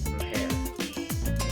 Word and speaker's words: mujer: The J in Spanish sounds similar to the English letter H in the word hello. Come on. Mujer.